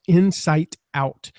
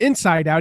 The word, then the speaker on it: Insight Out: We're going to talk about this new book of yours called Insight Out. And I will admit I mispronounced the name of that book at least 3 times and kept calling it Inside Out, even though I knew what it was.